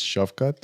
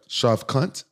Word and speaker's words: Shavkat: How you pronounce his first name? First name is Shavkat. See, I was you right. Perfect. Shavkat. Yeah. Huh? Shavkat?